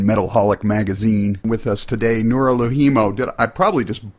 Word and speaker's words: Noora Louhimo: With us today, Noora Louhimo. I probably just butchered that. That was very American accent. Noora Louhimo of Battle Beast. How do you pronounce your name? Noora Louhimo.